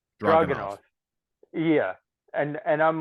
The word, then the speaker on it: Dragunov: Dragunov.